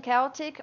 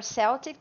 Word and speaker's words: Celtic: It's called Irish and Celtic, or Celtic, there are two pronunciations here, music podcast.